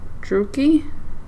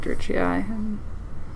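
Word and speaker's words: Druchii: was using this and I think it's actually pronounced drew key I'm like yeah I'll keep calling it dirty eye until someone yells at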